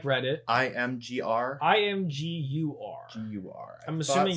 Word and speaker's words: Imgur: IMGUR. GUR. I'm assuming it's Imgur. It could be Imgur, but I'm pretty sure it's Imgur. Imgur, like image.